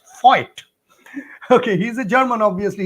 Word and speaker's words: Voigt: he told that, Shaunak, you cannot tell it as Dr. Woldemar Voigt, but you should pronounce it as Voigt.